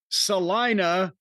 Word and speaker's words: Salina: I listen to you guys regularly while I'm at work delivering for Amazon in the greater Salina, rhymes with vagina, Kansas area.